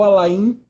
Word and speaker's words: Alain: É porque tem um amigo lá no trabalho que a gente chama ele de Alain, o nome dele é Alain Delon, também se escreve assim, e acabei chamando assim, mas é Alain.